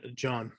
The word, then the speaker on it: Jean: know that one and I it's well it's pronounced John John why can't what's that uh uh 40601